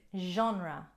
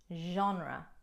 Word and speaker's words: genre: quit alcohol number three genre genre again you won't hear that j sound pronounced with a g in normal english words only with the french genre is referring to